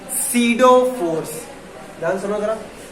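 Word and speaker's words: pseudo: इसको हम कहते हैं सीडो फोर्स। ध्यान सुनो जरा, स्पेलिंग होती है सीडो, इसको हम कहते हैं सीडो फोर्स।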